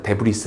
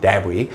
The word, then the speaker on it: debris: And bits of space debris 이때 S는 묵음입니다. 데브리스 아니에요. debris 우주 파편들에 의해서 또 때려받아요.